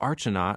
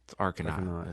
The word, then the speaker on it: Arcanaut: And everyone would always like read our shirts like, oh, Archanaut, I've seen them. Yeah. Like it's Arcanaut. Yeah, yeah. So we picked a name that like you cannot fuck it up. Like you cannot mispronounce it.